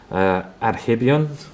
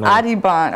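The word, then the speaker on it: Adhiban: Okay, board 3, we have Mickey Adams versus Adhibian.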